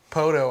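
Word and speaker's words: Poteau: Poto, I've heard, get butchered pretty bad. Yeah. Try and pronounce the E.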